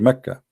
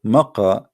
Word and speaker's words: Mecca: Sorry, for the people of Quraysh, they pronounce the letter Qa as Ka in such places, like in this case here, Mecca. So all what they do, they switch the letter. So Makkah became Mecca.